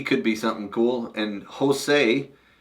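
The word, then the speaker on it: Hosei: be something cool and Jose which sounds like a Hispanic guy but it's spelled h o s eii kajima Kima yep sounds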